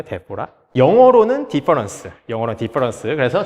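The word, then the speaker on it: διαφορά: 그리스어로 차이라는 단어가 데포라라고 읽거든요. 데포라.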